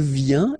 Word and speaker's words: vient: Then il vient, exactly the same sound, because final T here is not pronounced.